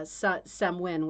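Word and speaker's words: Samhain: a holiday that would used to be called uh samwin which is spelled s-a-m-h-i-e-m right Celtic totally different pronunciation and the reason that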